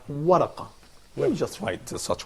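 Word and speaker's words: ورقة: That's called waraqa. So can you pronounce it again?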